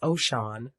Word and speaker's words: Oshun: Oshun, pronounced Oshun, also given as Osun, is a supernatural entity